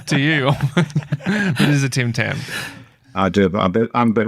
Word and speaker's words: Tim Tam: wrong is your name it's a Tim Tam not a Tam Tam but a Tim Tim would have made more sense to you but is a Tim Tam I doit I'm a